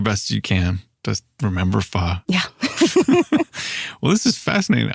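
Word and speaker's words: pho: Well, especially ones that you know imply that f rhymes with show or that it's fo. Yeah. Oh yeah, that is my biggest pet peeve. This fa. It's not faux.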